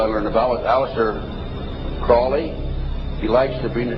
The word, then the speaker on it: Crowley: learned about was aliser Crawley he likes to BR have his name pronounced Crowley to rhyme with holy and uh these satanists